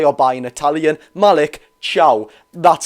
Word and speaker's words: Thiaw: last video thank you a lot I was pronouncing it Malik Tio it actually is pronounced like you're saying hi or by in Italian Malik Chow that's how you see it but on Malik